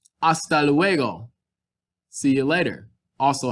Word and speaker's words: hasta: hammock or hammacher it's this h is completely silent at the beginning of our sentence hasta luego see you later